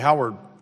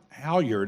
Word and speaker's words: Halyard: in addition I guess the Howard to the Howard halyard I keep saying it wrong it is my